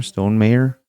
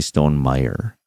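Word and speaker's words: Stonemaier: right that's the publisher Stone mayor I always want to say Stone Meyer but it's Stone mayor isn't it everybody says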